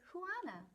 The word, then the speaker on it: Juana: juana's ideas chapter one my name is huana it's spelled j-u-a-n-a and it is pronounced things i like are